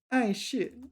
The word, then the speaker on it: 碍事: This is fourth tone. Ay shit. Really? So I know the word 障碍. 障碍 is an obstacle. 障碍. Definitely fourth tone there. All right, so ay shit.